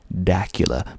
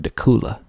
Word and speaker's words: Dacula: of looks like Dracula without the r Dacula but that is not correct people around here call it dula dula or dula it's one of those two the last movie that